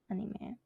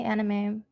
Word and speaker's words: anime: So let's start with anime. So a lot of people say anime, which, I'm actually fine with, but it's actually pronounced anime.